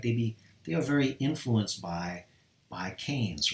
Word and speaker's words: Keynes: Keynes, even though it looks like it starts with key, like Keynes, Keynesian, that's not how it's pronounced. Okay, it's pronounced Keynes like this.